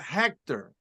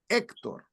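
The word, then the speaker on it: Héctor: my name is not Hector my name is Hector literally could delete the H from my name it literally is a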